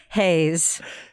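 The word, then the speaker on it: Reis: also a Bible Brazilian show what's it called Hayes Hayes yeah it's like r-e-i-s I know I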